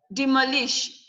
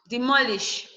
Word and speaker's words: demolish: Semantics, commercial, Nigerian, equilibrium, defendant, dependence, accountant, demolish. Your stress should come from the MO. Demolish, demolish.